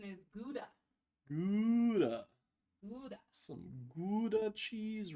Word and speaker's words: Gouda: Gouda. Gouda. So everybody else calls it Gouda or Gouda.